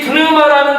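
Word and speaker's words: πνεῦμα: 근데 이 헬라어로 성령이라는 단어 프누마도 이 제대로 발음을 하려면 처음에 파열음, 입으로 공기를 모았다가 그 공기를 강하게 뿜어내는 파열음, 피라는 발음이 있습니다. 프누마. 한번 따라합니다. 프누마. 프누마. 푸누마가 아니라 프누마. 성경이 본래 처음 기록되었던 히브리어나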